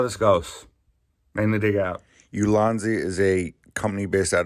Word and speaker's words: Ulanzi: I had to look it up and actually like try to spell it out, and it wasn't good. Anyway, Ulanzi. It's Ulanzi.